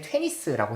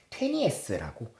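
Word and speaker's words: Tönnies: 예전엔 테니스라고 했는데 테니에스라고, 이제 실제 그 사람이 살았던 나라 그 발음을 따라서 갖고 온 것 같아요.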